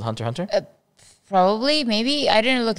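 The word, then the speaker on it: Hunter × Hunter: not Hunter x Hunter it's not Hunter x Hunter a lot of people say it wrong they say Hunter x Hunter but in fact it's actually Hunter Hunter why is the X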